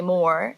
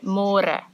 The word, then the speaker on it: môre: It's a little bit easier, but you have to remember to read môre, because in English it's spelled like more. So don't say more, say môre. And the older generations of Afrikaans people, they might say it a little bit differently, and they sometimes say môre, but it's more commonly used as môre.